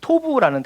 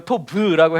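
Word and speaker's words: טוב: 그래서 우리가 또 알아야 될 것은, 보시기에 좋았다, 선하다 라는 이 단어가 히브리어로는 토부라는 단어예요. 토부, 부라고 해도 되고 토브라고 해도 되고, 어려운 발음이죠.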